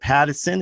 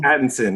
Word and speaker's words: Pattinson: oh how would you like that and robert patterson is that how you say his name patterson pattinson yes i thought it was fantastic it's a